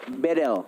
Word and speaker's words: Bedel: Dari mahasiswa Turki, dia bilang Bang Kornet bacanya bukan Bedel, jadi tapi E-nya dibaca semuanya E. Jadi Bedel.